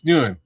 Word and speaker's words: Nguyen: I never know how to pronounce that. Nguyen. Hold on, man. Nguyen. It's Nguyen.